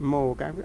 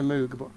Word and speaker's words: Moog: I must say it right, Moog. I sometimes slip into Moog, but this is why I love the live album.